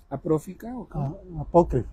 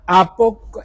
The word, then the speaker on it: apócrifa: ¿Apófica? Apócrifa. Esa palabra me cuesta mucho trabajo. Así como a Solchi le cuesta trabajo pronunciar la R, a mí me cuesta trabajo decir apócrifa. Apócrifa.